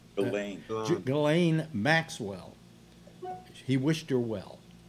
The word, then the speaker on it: Ghislaine: That's Gillan's cohort. How's it pronounced? Gillan. Gillan.